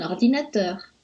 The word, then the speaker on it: ordinateur: Exemple, un ordinateur. On accentue un peu teur, ordinateur.